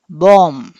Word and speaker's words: bomb: Okay, the correct pronunciation ఈస్ బాంబ్. సో ఈ రెండో బి, the last B ఈజ్ a silent letter.